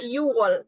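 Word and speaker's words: 유월: Tapi kalau untuk bulan, kita cukup sebutnya yu aja, hilangkan k-nya. Makanya di sini jadinya yuwol, bacanya yuwol. Ya, kayak wol-nya enggak jadi.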